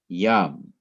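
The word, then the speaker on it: ים: Notice again, there is no accent symbol. It is the only syllable, it is the last syllable, and usually the accent comes on the last syllable, and it happens so often you don't need to put an accent symbol to remind the reader to accent that syllable.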